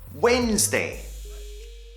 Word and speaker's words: Wednesday: is named after Mars Wednesday Wednesday the pronunciation the D isn't pronounced Wednesday Wednesday and this